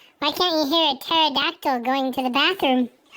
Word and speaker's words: pterodactyl: can't you hear a pterodactyl going to the bathroom because the PE is silent how does a train